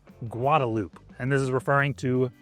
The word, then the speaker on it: Guadalupe: So first one, you might think it's Guadalupe or Guadalupe. It's actually Guadalupe.